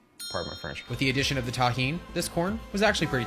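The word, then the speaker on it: Tajín: knows the deliciousness of Tajin that's how you pronounce this it's delicious with the addition of the tahin this corn was actually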